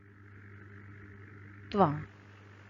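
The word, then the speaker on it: क्त्वा: त्वा, यह हमें कत्वा इस प्रकार दिखाई दे रहा है लेकिन इसका मुख्य उच्चारण है त्वा प्रत्यय।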